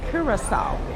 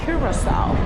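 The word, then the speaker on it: Curaçao: And it's pronounced Curacao. As one of the islanders just told me, Curacao.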